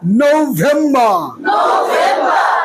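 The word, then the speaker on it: November: নভেম্বর, নভেম্বর না, নৌ ভেম্বর, নভেম্বর।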